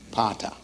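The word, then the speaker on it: pater: Pata. You almost see the word papa there.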